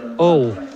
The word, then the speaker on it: Hull: bucks a dream Christmas always pronounces hull with a silent H all which is always a